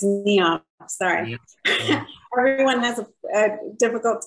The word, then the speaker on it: Niav: uh to write this story uh first it's neon sorry everyone has a difficult time pronouncing my name um uh so it it